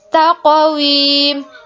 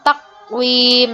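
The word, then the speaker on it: تقويم: Nah, di sini taqwim. Ingat dipantulkan ya, bukan takwim. Nah, itu salah.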